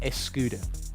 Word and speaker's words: Escudo: The S basically in Escudo is more like a sh sound, like escudo. Okay. And like, it's coming from Portuguese.